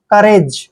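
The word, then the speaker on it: courage: Next word देखिए, COU, जब भी यहाँ पे C के बाद OU आता है तो OU का उच्चारण हमने नहीं करना है, C का उच्चारण हम कै करते हैं, और R को रे पढ़ते हैं, A को ए की मात्रा पढ़ते हैं, और GE का उच्चारण जय करेंगे, करेज।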